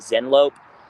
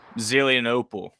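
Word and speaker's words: Zelienople: The is it Zenlope? Zelianopel, yeah. Yeah, wasn't going to pronounce that right.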